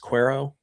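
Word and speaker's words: Quero: But I know that they like Kyle Teal, obviously, is their catcher, but I also know that they I believe it's pronounced Cuero, Edgar Cuero.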